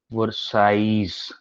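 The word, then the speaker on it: Versailles: और उसके बाद 8 जनवरी 1871 को एट पैलेस ऑफ, दोनों फोटो दिखाऊंगा, वर्साइज, एल नहीं प्रोनाउंस होता है इसके अंदर, इसको वर्सलीज नहीं बोलते, वर्साइज बोलते हैं।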